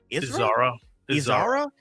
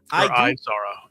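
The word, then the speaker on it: Izara: How do you pronounce her name? Isra. Thank you. Devon Isara. Okay, that's so much better. Thank you. Uh, Eko Dodaki. That's her master. Isara. Isara.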